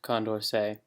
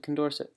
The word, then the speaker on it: Condorcet: and just a note i totally butchered the french in this video um i called condorcet voting condorcet voting um so yeah it is pronounced condorcet um but i said condorcet